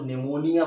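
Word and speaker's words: pneumonia: आपसे पूछता हूं कि यहां प को साइलेंट करने का क्या कारण है तो सिंपल सा है ये क्या है एन हार्ड है ये क्या है हार्ड साउंड है और पी क्या है सॉफ्ट साउंड है और मैंने आपको बताया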